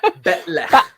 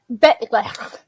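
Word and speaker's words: bat'leth: Betlech. Betlech.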